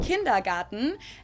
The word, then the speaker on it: kindergarten: and that is kindergarten in German we pronounce it kindergarten and it literally means